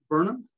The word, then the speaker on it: Burnham: me but is it is it pronounced burum Burnham James Vernon yes yeah Burnham um uh